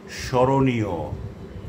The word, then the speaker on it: স্মরণীয়: যদি শব্দের প্রথম ব্যঞ্জন বর্ণের সঙ্গে মফলা যুক্ত থাকে তাহলে সাধারণত তার কোনো উচ্চারণ হয় না। তবে প্রমিত উচ্চারণ রীতিতে মফলাযুক্ত বর্ণটির উচ্চারণে খানিকটা নাসিক্য প্রভাবিত হয়, অর্থাৎ একটুখানি নাকিস্বরে উচ্চারণ হয়।